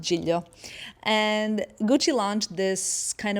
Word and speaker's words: Giglio: Giglio or whatever, I don't know, but it's pronounced Giglio.